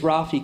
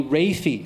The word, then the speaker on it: Rafi: kept on mispronouncing it my name is Rafi kept on calling me rafy so he this man